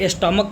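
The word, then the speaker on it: stomach: लेकिन जैसे स्टमक मतलब होता है पेट स्टमक। स्टमक इसके अंत में सीएच का उच्चारण क की तरह है।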